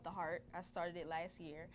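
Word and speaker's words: The HairArt: It's called The Heart. I started it last year. Okay. And it's spelled THEHAI''ART. I took hair and art and I put it together. Wow. And I pronounced it Heart because my slogan for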